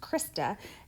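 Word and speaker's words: cristae: what that thing does that's called the that's pronounced krista and um that's what's happening inside of there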